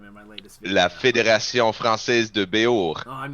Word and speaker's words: Fédération: Like federation, yeah. but the E's are A's. So it's Fédération. Why don't we spell it that way? Fédération? Did I do it? Fédération. Ah, I still fucked it up. The Tion is like an Sean. Sion Sean. sound.